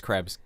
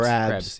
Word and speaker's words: Krebs: My last name's Krebs. Krebs. Crabs.